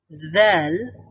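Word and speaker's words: ذال: আমরা বলব বলুন হ্যাঁ যদি আমরা জা বলি তাহলে আওয়াজটা ডিফারেন্ট হয়ে যাবে চেঞ্জ হয়ে যাবে আমাদের বলতে হবে জাল নরম করে একটু নরম করে বলতে হবে ওকে জাল ঠিক আছে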